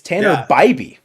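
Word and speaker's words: Tanner Bibee: pronouncing the matchup tomorrow I've been pronouncing his name wrong the entire time it's Tanner BBY yeah I I heard uh Dave say that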